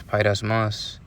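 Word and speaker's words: πειρασμός: it out right now, just in case I mispronounced it. Strong's G 3986, pyrasmos. Pyrasmos. All right, so it's pyrasmos.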